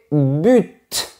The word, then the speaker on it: but: La prononciation la plus courante est but. Mais quand on est un expert de la langue française comme moi, on dit bu. C'est plus chic mais les deux prononciations sont correctes.